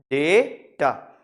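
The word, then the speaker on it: data: First syllabus stress, पहला syllabus stress होता है थोड़ा, डेटा, डेटा, जो डे है ना उसमें स्ट्रेस है, ठीक है।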